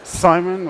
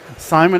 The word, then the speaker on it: Simon: here with me and Simon or Simon if we stay in the Anglo um angon phone pronunciation Simon is the course director